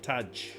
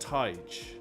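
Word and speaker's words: Tadhg: Taj. Pronounced Taj. Like tiger without the R. Taj.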